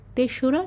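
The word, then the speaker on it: ৩রা: So 3, which is Bangla 3, it is followed by ra and we need to pronounce it as 3রা January.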